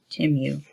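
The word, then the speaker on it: Temu: which is now I found out how you pronounce it t-e-m-u timu because they have really good stuff okay all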